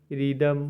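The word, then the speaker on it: rhythm: अब number six है H silent बहुत सारे ऐसे वर्ड जिसमें एस साइलेंट रहता है जैसे आर एच वाई टी एच एम रिदम मतलब लय एच ओ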